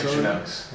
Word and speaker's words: Victorinox: But the manufacturer in this case, Victorinox. I've never heard of those guys. How do I pronounce that? Do I pronounce that right? Victorinox.